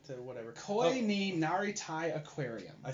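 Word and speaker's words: 恋になりたい: This is Koni ni Natori whatever. Koi ni Naritai Aquarium.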